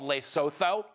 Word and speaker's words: Lesotho: Although, to be fair, he did pronounce it wrong because the country is called Lesotho.